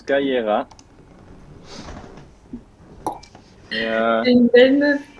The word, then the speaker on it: Kira: Kira, comme ça se prononce, Kaira.